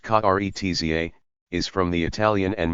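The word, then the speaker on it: Karezza: The word Kurat Sa, pronounced Kretza, is from the Italian and means a caress.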